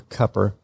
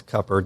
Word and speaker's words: Cooper: would have stopped at Cooper, or Cupper, as some say. I had to learn that one too, that Cooper is not Cooper, it's Cupper, depending on, who you talk to, and that McLean is pronounced McLean.